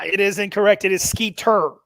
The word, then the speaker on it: Skeeter: It is Skeeter. Skeeter, like the bug.